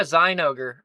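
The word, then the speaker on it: Zinogre: Looking at the art in the artist alley, there was this Yeah, Zionogre. Oh, cuz he's an ogre. That's how you pronounce it. That's the official pronunciation. Zyogre.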